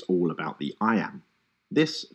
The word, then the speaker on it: iamb: The word iam is pronounced just like the phrase I am.